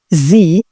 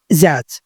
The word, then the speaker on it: Z: خلي بالك ان هو ليه نطقين، نطق امريكي وده اللي احنا هنستخدمه عشان احنا بنتعلم باللغه الامريكيه او باللهجه الامريكيه، هو حرف الزي. زي. في البريطاني بيقولوا عليه زاد.